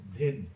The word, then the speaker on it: dhin: Then the fourth one is dhin. Capital D, small h, small I, small n. Dhin.